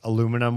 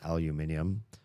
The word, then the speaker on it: aluminium: Aluminum was one of them. Aluminium for those of you that pronounce it the right way.